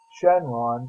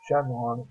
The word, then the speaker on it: Shenron: Number 6, Shenron, or Shenlong, however you want to pronounce it, from the Dragon Ball series.